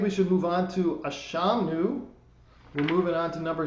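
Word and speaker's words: אשמנו: for this, is that the words are pronounced Ashamnu, Bagadnu, Gazalnu, Dibarnu Dofi.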